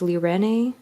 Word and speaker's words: Lirene: Oh, this is the Lirene, I think it's pronounced Lirene.